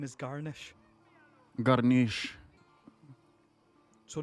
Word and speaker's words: Garneesh: It is Garneesh, not like celery or whatever.